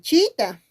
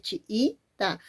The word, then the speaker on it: chiita: me preguntan pero profesor por qué no es Chita chi ta dos sílabas no es chiita por qué Porque la i es una vocal cerrada y la otra I también es una vocal cerrada y una característica es que son I I Son igualitas y la